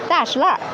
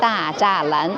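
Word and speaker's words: 大栅栏: If you are local people, I call it 大石栏. And if you are not Beijingers, the people will call it 大栅栏. Very interesting, different dialect pronunciation.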